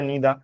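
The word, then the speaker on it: neither: করে দাও বুঝাই ইচ এভরি আইদা নিদা এগুলো ব্রিটিশ প্রোনাউনসিয়েশন আইদা নিদা আইদার নিদার না ওকে ইটস আইদা নিদা এটাকে কি বলে এটাকে ব্রিটিশ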